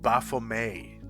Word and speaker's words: Baphomet: Are Demogorgon and Baphomet trying? Or it's actually pronounced Baphomet.